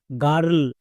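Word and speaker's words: girl: সো আমরা মনে রাখবো আই আর যদি দেখতে পাই একসঙ্গে আর সাউন্ড করে দেব। নেক্সট, এল, এল এর জন্য লো, তাহলে কি হলো জি আই আর এল, গার্ল।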